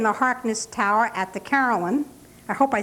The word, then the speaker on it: carillon: Carillon. Carillon.